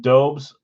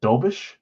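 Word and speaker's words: Dobeš: Alex M, Goodis, and I've been saying Dobes. We played him the other day, and he started. It's like Dobish. Say it like Dobish or something.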